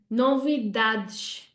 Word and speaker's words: novidades: We say novidades. We have 1 stress instead of 4 and it falls on the dad.